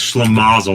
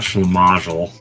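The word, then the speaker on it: schlimazel: said it right uh it's schlamazel not schamel Oh I thought you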